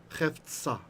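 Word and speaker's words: חפצה: So chefetz, desire of That the hey with the dot in it means you actually pronounce the H at the end. It's aspirated.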